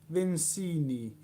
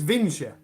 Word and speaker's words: Vinci: It's Vincia. That's how you pronounce it, by the way. It's Vincia. I know on the review I said it wrong, but it is actually Vincia. If you don't believe me, look at Leonardo da Vinci. Da Vinci. It is pronounced Da Vinci.